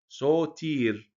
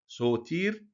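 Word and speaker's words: ⲥⲱⲧⲏⲣ: هو السيد المسيح بخرستوس لو جه بعده حرف تضخيم اللي هما الالفا او الاوميجا بننطق صد يعني بنديله هبه كده زي كلمه ايه سوتير سوتير اللي هو مخلص كلمه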